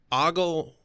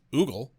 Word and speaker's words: ogle: ogle are both, like, ogle is more correct than the way I had been pronouncing it, which was oogle. But no, I have it wrong. I've been pronouncing it wrong my whole life.